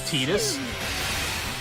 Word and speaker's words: Tidus: Also, his name's Tidus. It sounds like tedious, and I think that's by design. I think that's why they were like, we're just gonna arbitrarily pretend that this name is pronounced in a completely different manner, because it sounds more like tedious.